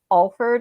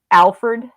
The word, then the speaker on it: Alford: never come across that everybody knows that it's alford instead of alfred he like tries to